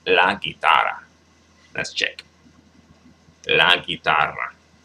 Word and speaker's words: guitarra: La guitarra. Got to roll the R's. I do kind of slip, slack when it comes to rolling my R's sometimes. So la guitarra. La guitarra.